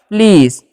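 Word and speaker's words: please: उसका क्या करना है प्ल और इ के साथ जब भी इ रहेगा ठीक है ए रहेगा तो उसका उच्चारण दीर्घ करना है और एस जब लास्ट में रहता है तब ज उच्चारण किया जाता है तो हो गया प्लीज तो प्लीज का मतलब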